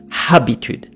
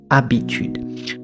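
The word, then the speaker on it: habitude: you the answer is the letter h is always always always silent in french at the beginning of a word when you have words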